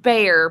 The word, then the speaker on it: Bexar: an actual Texan yes it's pronounced bear but spelt Bexar there we go see